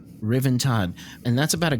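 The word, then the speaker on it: Ruthven: It's pronounced Riven. Riven Todd.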